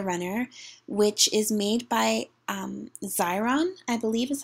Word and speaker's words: Xyron: I'm going to be reviewing the Teresa Mega Runner, which is made by Xyron, I believe is how you pronounce the manufacturer's name. It's spelled X-Y-R-O-N, so I think that's Xyron.